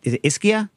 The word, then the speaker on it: Ischia: butcher anything just just tell me how it's pronounced just literally interrupt and uh what's the island uh iskia you nailed it uh so okay so this